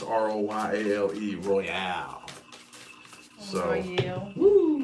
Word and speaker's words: Royale: Well, it's R-O-Y-A-L-E, so Royale, I think, is what it is. Oh. Instead of Royal, R-O-Y-A-L, it's R-O-Y-A-L-E, Royale.